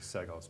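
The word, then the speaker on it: Basile Seggos: Environmental Conservation commissioner uh basil sigos yep did I pronounce that right I think so I think it's actually seos but close name like I want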